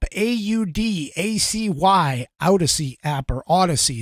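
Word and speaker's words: Audacy: Acy Odyssey app or Odyssey is how they pronounce it but i' like to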